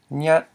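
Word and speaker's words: ຍັດ: So when we look at this word, we know it's pronounced nyat with a mid-tone. Finally, Rule 9, the last tone rule in the Lao language.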